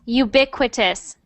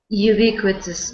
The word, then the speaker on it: ubiquitous: ubiquit ubiquit yep that's a funny word it's ubiquitous ubiquitous yes so not Ubbi but Ubbi ubiquitous ubiquitous